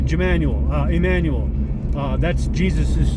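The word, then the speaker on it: Jmmanuel: It's Jemanuel, spelled with a J. Jemanuel.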